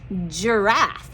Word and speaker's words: giraffe: here's my soft g giraffe sounds like a j but it's a g don't get tricked by that we've got this one